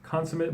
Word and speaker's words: consummate: So this is pronounced consummate, but there's also the word consummate, so I need to explain that for you.